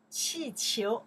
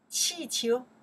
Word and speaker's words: 气球: 气球, okay, let's check the pinyin here, okay? Balloons. 气球, okay, fourth tone. 气, second tone. 球, 气球, balloons.